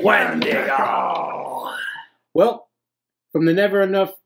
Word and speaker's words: Wendigo: I mean, Wendigo would fit in with there.